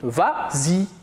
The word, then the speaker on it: vas-y: ça la vraie conjugaison mais comme il est suivi d'un pronom on ajoute le s pour faciliter la prononciation et on dit vas-y très bien on passe